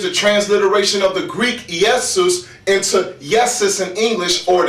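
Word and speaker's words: Ἰησοῦς: cuz his name is in Greek is pronounced yesus yesus Yeshua is yesus or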